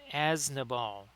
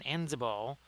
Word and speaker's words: Aznabal: It's kind of funny because I've been mispronouncing, so it's actually Aznabal. I've been saying Enzabal, but there's actually I've kind of misplaced the N and the Z, right, Blades?